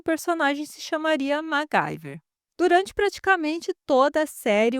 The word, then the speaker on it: MacGyver: na hora da dublagem, eles pronunciam MacGyver e não MacGyver como seria o correto.